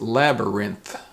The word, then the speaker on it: labyrinth: the next word is labyrinth labyrinth l-a-b-y and here the t-h is pronounced and the n-labyrinth labyrinth